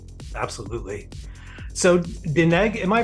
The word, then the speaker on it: DNEG: So Dineg, am I pronouncing that right? The animation company? DNEG? DNEG? Yeah, it's short for double negative. Yeah, DNEG, yeah.